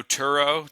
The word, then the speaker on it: Turo: and um for those who know Turo, Tur O, that's a peer-to-peer car rental marketplace.